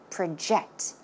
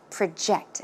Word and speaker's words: project: now in this case we are not talking about project as in a noun but it's used as a verb so how should it be pronounced project project okay project your name